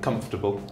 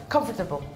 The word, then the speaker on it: comfortable: so in received pronunciation comfortable comfortable no no uh like you don't pronounce the second o yeah comfortable comfortable comfortable come on